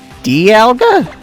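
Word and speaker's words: Dialga: Can I take a thing to an it apparently the official pronunciation of this thing is D alga.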